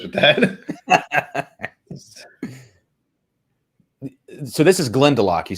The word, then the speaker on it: Glendalough: So this is Glendalough, you said. That's how it's pronounced. I want to make sure I got that right. Glendalough. Yeah. Some people will say Glendola.